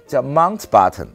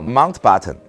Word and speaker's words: Mountbatten: 蒙巴顿这个词怎么念呢？叫 Mountbatten，还是这 Button，这 Button 留下了，把这山从德语变成了英语，因为 Mount